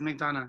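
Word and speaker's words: McDonogh: Am I pronouncing McDonough right? I just want to make sure. It is McDonough, yeah. McDonough, that's what I thought.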